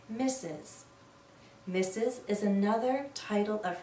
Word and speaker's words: Mrs: the word mistress but we almost always read this as misses mes is another title